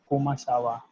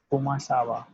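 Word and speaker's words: comment ça va: That and in the French it will be pronounced as kumasawa, kumasawa, kumasawa. Right. Just speak 3 to 4 times as I am telling to you. Just speak it. Kumasawa, kumasawa, kumasawa.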